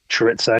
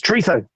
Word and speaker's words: chorizo: Yeah, it's when like my kids say chorizo. I'm like, it's chorizo. It's Spanish. That's pronounced with a TH, you fucker.